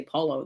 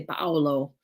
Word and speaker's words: Paolo: They don't say Paulo, they say Paolo, because you say every syllable in Italiano.